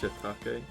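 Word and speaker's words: shiitake: to play Persona 5 Royal nope never it's pronounced shitake thank you of course we're going to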